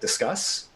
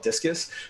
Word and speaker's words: Disqus: And so you may want to look to a third-party system like Disqus, right? D-I-S-Q-U-S. That's how I pronounce it. A lot of people call it Discus, but Disqus, right?